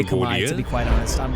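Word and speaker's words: Khmer: it's fine to say Chimera, but just just know that it it's Kami. Um, it is pronounced Kami if you go to Cambodia.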